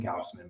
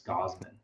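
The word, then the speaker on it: Gausman: with Kevin gaussman um I keep on saying gaussman but it's gauzeman right yeah I'm just like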